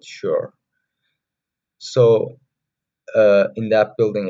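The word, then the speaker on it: Xior: only contains Studio rooms that's called the sheer building it's x i o r for some people the pronunciation May differ I prefer to call it sure so uh in that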